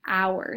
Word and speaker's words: hour: words like this, but the sound we make when we say it starts with a vowel. Hour. It starts with an O-W essentially, phonetically.